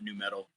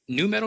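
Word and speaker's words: nu metal: So please go check it out, especially if you love new metal.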